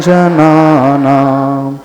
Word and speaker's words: जनानाम्: भक्तामर प्रणत मौलिमणि प्रभाणा मुद्योतकं दलित पापतमोवितानम् सम्यक् प्रणम्य जिन पाद युगं युगादा वालम्बनं भवजले पततां जनानाम्। अब जनानाम में म हलंत है तो म का पूरा उच्चारण नहीं आना चाहिए।